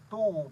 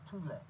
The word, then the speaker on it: Thule: If you look at it, it looked like it's phonetically pronounced Thule, but it's actually pronounced Thule.